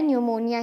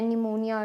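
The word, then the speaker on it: pneumonia: मैं इतनी जाती थी वह साइलेंट है न्यूमोनिया इसको बोलते हैं निमोनिया निमोनिया ठीक है तो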